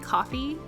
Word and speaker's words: Ko-fi: be opening up my Kofi Kofi coffee I'm sure it's pronounced coffee because it's like oh buy me a coffee but um I'm